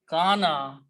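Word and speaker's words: كان: Now, kana means to be, kaf, waw, noon. And when we put three fathas, it becomes, middle letter is pronounced as alif.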